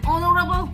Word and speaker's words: honorable: An honorable man, an honorable man. We never say honorable man. Okay, so here also H is silent.